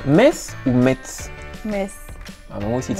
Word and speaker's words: Metz: La ville de Metz, tu la prononces Metz ou Metz?